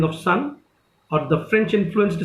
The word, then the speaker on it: Sunne: When I speak सन, so don't you think like the spelling says SUNNE, sun, that is you know, that archaic spelling of sun, or the French influenced spelling of sun, that is that star.